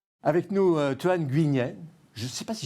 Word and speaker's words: Nguyen: Avec nous, Toan Nguyen. Je ne sais pas si je prononce bien votre nom. Oui, Nguyen. Nguyen.